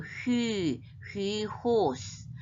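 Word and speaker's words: υἱός: 위프실론 호휘호휘 근데 이제 위프실론과 이오타가 흐 조금은 그냥 휘만 하지 말고 휘 호스 휘호 휘호스 이렇게 발음해야 되겠죠 호휘호 스튜디오 하나님의 아들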